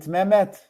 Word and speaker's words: Mehmet: Is it Mehmet? Mehmet, yeah, right pronunciation.